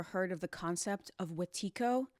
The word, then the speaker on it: Wetiko: I don't know if you've ever heard of the concept of Wetiko. You may have heard it pronounced Wendigo, and it means a cannibal or someone suffering from insatiable greed.